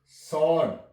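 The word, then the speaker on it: sword: भी W silent है आन आन सर डब् साइलेंट है य सड एस डब् ओ आरडी सड डबल साइलेंट है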